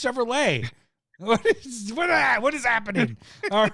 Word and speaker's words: Chevrolet: It's Chevrolet.